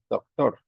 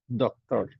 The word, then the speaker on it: doctor: In Spanish, we say doctor, doctor. In English, we say doctor, doctor, doctor. Listen to the pronunciation. In Spanish, doctor, doctor. In English, doctor, ¿no? Entonces la diferencia está en el acento, ¿no? Donde hacemos la fuerza, donde hacemos la fuerza. En Spanish, la fuerza la hacemos en la última sílaba, doctor, ¿cierto? En English, en la primera, doctor.